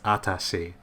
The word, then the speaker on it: atashi: It's in the manga, she uses watashi, and in the anime, she uses atashi, which is just watashi, but with a little bit of a less pronunciation on the W.